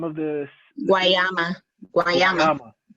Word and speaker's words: Guayama: can you pronounce that, the name of this? Guayama.